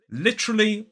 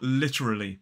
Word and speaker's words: literally: falls on the first now another way you may hear this is with an extra schw just before the r sound so it becomes more like literally four syllables but stress still on the now personally I say it with three maybe that makes me a bit lazy cuz I've dropped that schw but you will hear some people say it with four let me know which